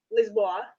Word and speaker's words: Lisboa: Lisboa, how they say it, right?